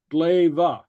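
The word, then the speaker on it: glè: Glaive. Okay, and what this means is, it's pronounced glaive.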